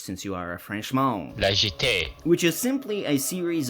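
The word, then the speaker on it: La Jetée: Joe from Pause and Select, please pronounce this French since you are a Frenchman. Legit.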